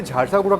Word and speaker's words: झारसुगुड़ा: और मैं माफ़ी चाहूँगा क्योंकि मैंने कई बार झारसुगुड़ा को झारसागुड़ा कहकर बोला और असल में इसका जो सही प्रोनाउंसिएशन है वो झारसुगुड़ा ही है।